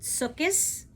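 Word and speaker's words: Sukkot: the Jewish holiday of sukot Eastern European Jews often pronounce it sukus is a joyous holiday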